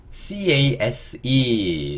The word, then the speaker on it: case: 그래서 CA가 K, S는요 숏, E는요 묵음. 그래서 여기서 적어보면 case, 그쵸? 여기 돼서 요게 K, E, S, case 이렇게 읽을 수 있고, case는 통, 예.